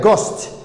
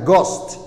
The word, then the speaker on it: ghost: tan g ayaa ka horreysa waxaa la leeyahay ghost h ta way aamusan tahay ghost ghost ayaa la leeyahay waxaa la leeyahay ghost